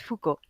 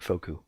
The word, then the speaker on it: Foucault: not how to say it doesn't look like it's easy to say when you read it because there's it's got all the extra crap that the French don't pronounce yeah yeah and that's a lot of oils too but it's just Foucault and yet Carl God managed to get it backwards made it focu and then Kevin and